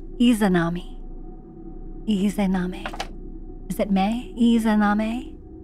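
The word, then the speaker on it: Izanami: II Perfect all right she's on our list pronounced isanami eami is it may eame she deforms faces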